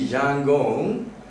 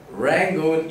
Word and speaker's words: Yangon: And when they change the capital city, Yangon, it's taken from Rangoon. In fact, Rangoon is also the British pronunciation. In fact, the original name is Yangon.